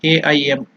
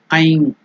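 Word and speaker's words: ऐं: So it is Aim. Just like Nai, it is Aikara. Aim or Aing. In the nasal Aing or Aim. If it is separately chanted, then it is to be completely pronounced as Aim.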